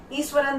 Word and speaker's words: Iswaran: मैं आपकी अपनी मैम मीनू चौहान आज 9th क्लास के स्टूडेंट्स का इंग्लिश का chapter ईश्वरन the story teller लेकर आई हूँ।